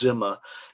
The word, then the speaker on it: Dhimma: and like I said, in the West we call it Dhimma and Dhimmis, but the Arabic letter makes it pretty clear. The correct pronunciation is Dhimma. It's like a DZ sound together.